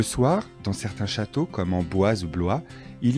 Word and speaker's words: Amboise: Amboise, le château d'Amboise. Le soir, dans certains châteaux comme Amboise ou Blois, il y a un spectacle de son et lumière.